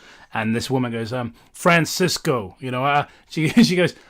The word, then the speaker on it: Francesco: But I mentioned Franchesco, which is the original pronunciation of of his sort of canonized saint name. And this woman goes, "Um, Francisco."